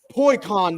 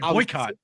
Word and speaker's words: boycott: I said, I'm fucking starting a poi con this summer. A poi con? But as I said the words poi con, I was like boycott. I got sad because I realized I was saying it wrong.